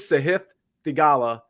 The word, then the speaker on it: Sahith Theegala: Even when they pronounce it right, they'll say it again and they'll pronounce it wrong. His name is Sahith Theegala, and he's 8,800.